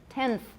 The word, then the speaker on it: tenth: becomes interdental all right tenth is a better example the n becomes interdental tenth my n is interdental um this t is